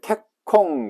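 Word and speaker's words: 結婚: 원래 결은 캐츠 발음됩니다. 콧 요 녀석 때문에 초금 처리된, 이렇게 초금 처리된 겁니다. 캣콩 이렇게 된 겁니다. 그래서 결은 뭐다? 원래는 캐츠다. 호는 뭐다? 콩 이렇게 발음난다.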